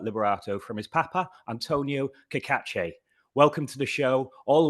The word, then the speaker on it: Cacace: Yeah, Kakache.